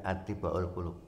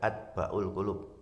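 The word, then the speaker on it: أطباء القلوب: Ini saya membacanya attibaul qulub. Ada yang membaca atbaul qulub? Ya, silakan saja kalau memang ada rujukannya. Tapi saya lebih cenderung membacanya dengan attibaul qulub. Karena atibau ini bentuk plular plural jamak, Pak.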